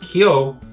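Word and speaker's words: 京: highly stylized version of this Japanese character pronounced kyo it means capital it's actually used in the word tokyo tokyo means eastern capital so this flag actually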